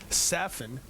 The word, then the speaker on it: Safin: I'll tell you, that first point when Safin gave him, now that we've had to go to his coach to find out that his pronunciation is Safin.